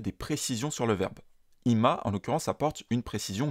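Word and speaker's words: 今: quand on utilé seul il se prononce IMA c'est dire maintenant IMA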